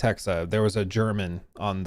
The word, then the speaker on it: Hexa: Code name Hexa, which I've learned it's it's Hexa.